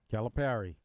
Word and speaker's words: Calipari: Is it Calipari, Calipari? Calipari. Perry. Okay. Like, you can either in your mind think of a pair of socks. Me, I think of the fruit, the pear.